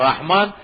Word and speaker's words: رحمان: اور ایک اس کا تلفظ ٹھیک ہونا چاہیے. آج کے بعد رحمان بولیں اس کو. کیا ہے؟ را کے اوپر زبر ہے، رحمان.